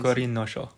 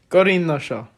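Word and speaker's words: 五輪書: I was going to try to pronounce how do you pronounce that in Japanese? Gorin no Sho. Gorin no Sho.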